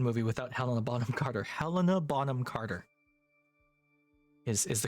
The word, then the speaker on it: Helena Bonham Carter: Helena Bonham Carter is the correct way to say her name.